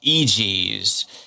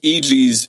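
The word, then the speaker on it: EGEZ: unveils his newest brand, EG's, spelled E G E Z. And I'm assuming it's pronounced that way because his early ad copy is to go, "Os," and then EG's next to it.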